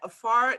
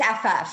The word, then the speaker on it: Afaf: We're joined by Afar, I believe. Am I pronouncing your name correctly? It's Afaf, so that last Afaf, sorry.